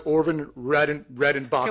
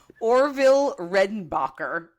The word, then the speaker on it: Orville Redenbacher: If anyone knows Orvin Redenbacher. Okay, first of all, we're going to say his name right. Orville Redenbacher, not was close.